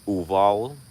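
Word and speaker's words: Uvalde: mass shooting in texas uvol is how you say that city uval texas with the very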